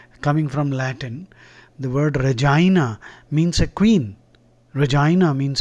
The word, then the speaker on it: Regina: at this word uh it is pronounced Regina Regina uhuh what Regina that's